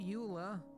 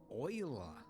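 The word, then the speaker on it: Euler: shift a utilities rotation rotate not Ula oila that yes I know they went with the weird pronunciation I think it was a Frenchman right could be German doesn't matter same same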